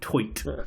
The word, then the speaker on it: toit: It's come back, Tight. but only when pronounced toit.